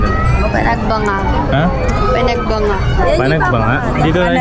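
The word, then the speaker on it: Panagbenga: Ay ayun na yon ma yung name ayun na kaako o ano mo pananggeng anong panangging panangging ano yung tamang pronunciation do panagbanga ha panagbanga panagbanga dito tayo sa panagbanga panagbanga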